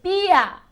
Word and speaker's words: beer: To have a beer. Beer, very good. Beer. Be careful with the pronunciation. B-a. Beer. Okay? B-a. Be careful because otherwise, si no, it can sound like bear.